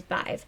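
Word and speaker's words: Badb: Irish, I think I said English last time, but Munster Irish, it is Bive. So that's the one that I'm going to be going with, mostly because it is the easiest for me to pronounce, personally.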